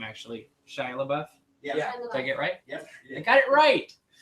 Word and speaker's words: Shia LaBeouf: Shia LaBeouf.